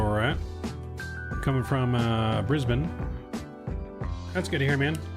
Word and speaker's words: Brisbane: Sydney right Sydney so I know how you pronounce Sydney and Brisbane it's Brisbane right not Brisbane Brisbane this is an